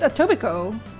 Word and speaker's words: Etobicoke: How to pronounce? I think it's just Etobicoke.